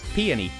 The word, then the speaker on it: Peony: where you pronounce it it's peony like the flower oh yeah no you